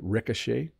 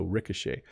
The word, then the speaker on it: ricochet: of all Ric Ricochet so the O has more of an AA sound Ricochet and then the CH is making a sh sound so Ricochet if you watch old